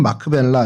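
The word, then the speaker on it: מכפלה: 그래서 큰 성체 같이 생긴 그곳에 어 그곳이 이제 막벨라고 어 약간 예고편을 좀 보여 드렸는데 어이 막벨라는 어 히브리 말로 뭐 발음은 마크벨라 이렇게 할 수 있는데 겹쳐졌다 온 이중 요런 의미를 갖고 있습니다.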